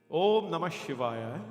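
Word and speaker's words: Om Namah Shivaya: Om Namashivaya is the oldest mantra of Shiva. And by itself, Om is not counted, Om is not a syllable, but it has to be in front. Om Na Maha Shi Va Ya. Everybody understand? Na Ma Shi Va Ya. 5 syllable mantras.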